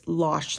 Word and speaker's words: mlash: to pronounce it but they said it's lash like goulash okay we are on